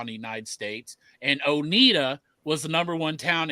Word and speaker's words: Oneida: In Tennessee, it's Oneida. And it's spelled the exact same way in Kentucky. It's Oneida.